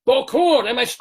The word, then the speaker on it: Bokhour: So first of all, first and foremost, we want to welcome to the Daverhood, shalom, to Ray Bokhour. First of all, am I pronouncing that?